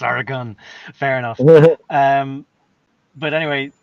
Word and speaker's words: Oregon: there Lily Gazoo says it's pronounced Oregon not Oregon it didn't go anywhere it's Oregon fair enough um but